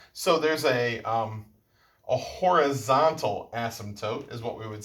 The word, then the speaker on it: asymptote: here is called an asymptote i know funny word asym asymptote kind of has like a silent p in an asymptote um an asymptote is